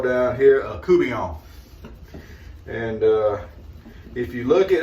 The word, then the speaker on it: court bouillon: I'm going to learn to cook what they call down here a coubillon. And if you look it up, it is actually spelled court bouillon, but it is pronounced coubillon.